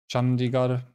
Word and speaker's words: Chandigarh: Chandigarh. They don't say R. I think they do more like a retroflex R, by which I mean